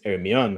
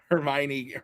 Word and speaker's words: Hermione: In Spanish, it's Hermione, which is a terrible way to pronounce it. Hermione Granger is correct.